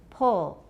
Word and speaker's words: pull: But before L, the vowel will change quite a bit. L changes vowels a lot. Pull. 几乎是没有什么 rounding in American especially, but in British too as well. Everyone pull. Look at my mouth. Do you see rounding? Pull. Pull. Do you see rounding? I don't feel much rounding.